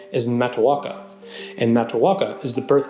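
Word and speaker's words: Matoaka: this is another name we've Americanized the correct pronunciation is mataka and mataka is the birth name of none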